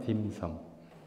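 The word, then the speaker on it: 點心: 한자 중국식 발음으로 홍콩 발음으로 하면 딤섬.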